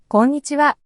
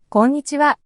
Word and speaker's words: こんにちは: In this word, N appears twice, but it's not pronounced as a double consonant. Each syllable is pronounced separately. こんにちは. こんにちは. So it's important to note that it doesn't sound like konnichiwa with an English accent.